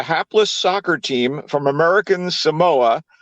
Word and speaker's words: Samoa: soccer team from American Samoa which they refer to as Samoa which I guess is the proper pronunciation but I you know I like to say Samoa the murer so I'm